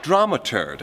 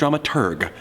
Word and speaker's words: Dramaturg: Unser Bühnenmanager SLASH Drama-Burg. [L] Die korrekte Aussprache ist Dramaturg.